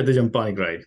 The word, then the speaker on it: Dijam Panigrahi: Yeah, Dijam Panigrahi.